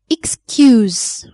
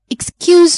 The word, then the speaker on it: excuse: If they are used as verbs, so they have Z sound at the end. Use, excuse. I want to use your phone, please. Excuse me, do you know where is the metro station?